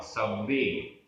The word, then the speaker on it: सव्वे: सव्वे, आधा व पूरा व, सव्वे।